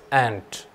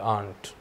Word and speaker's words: ant: This is an insect and you cannot make it your aunt. It's pronounced as ant and not aunt.